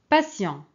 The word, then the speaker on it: patient: Ici, c'est patient. Patient. OK. C'est avec T. Très bien. On a dit qu'on peut prononcer la lettre T, S.